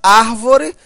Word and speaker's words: árvore: Olha só, a palavra árvore, veja, a sílaba tônica, olha só, a última, a penúltima e a antepenúltima. A sílaba tônica é a antepenúltima, portanto, uma proparoxítona.